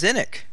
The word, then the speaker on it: Qsenoch: Ella asks in the chat, how does one go about pronouncing Seanock? There's a highlight on Mick's stream. Too. It's Zinnik. Mick Seanock says that's how you pronounce it.